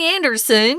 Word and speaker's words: Andersen: I say Hans Christian Anderson because we have a lot of Andersons who live in the states and that's how we pronounce that last name so it was called